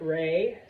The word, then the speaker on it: Ra: Now, I put there Ray. Some people pronounce it Ra.